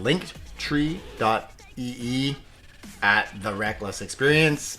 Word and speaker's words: Linktree: But the clickable link is called linktree.ee at The Reckless Experience, pronounced Linktree.